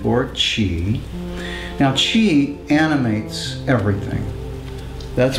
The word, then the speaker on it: Qi: writing Mandarin Chinese it's spelled Qi and we pronounce it t or Chi now Chi animates everything that's what's special about